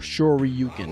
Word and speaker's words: Shoryuken: modern, complex controls, but Shoryuken inputs should be hard. Or Shoryuken is technically how it's pronounced.